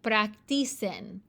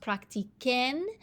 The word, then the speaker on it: practiquen: Because if we just left this a C, it would be practicen. But that's not the way the word is pronounced. It's practicar, so it has to be pronounced practiquen. And so you add a QU to preserve the k sound.